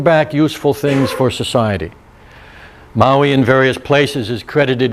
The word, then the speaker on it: Maui: Not the island, Maui, in fact it's Maui, if you want to pronounce it right.